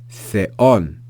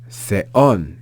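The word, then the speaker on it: θεόν: We then have epsilon, omicron with an acute accent. You see, so the pitch is going to rise on that second vowel, that second syllable, and it ends with the consonant nu. So we have theon, theon, and you hear how that accent, the pitch picks up, theon, theon.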